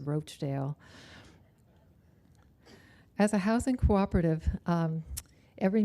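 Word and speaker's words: Rochedale: in fact one of our streets in cresworth hills is named after this community but unfortunately our founding fathers added an e so it's pronounced roachdale as a housing cooperative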